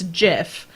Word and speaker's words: GIF: thing if you want to believe that it's pronounced gif it's the same as believing the earth is flat there is all of the evidence that tells you it's jiff but you refuse to believe it and that's